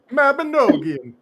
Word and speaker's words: Mabinogion: says, I would have based solely on Chris pronouncing Mabinogion. Yeah, that word correctly. Mabinogion.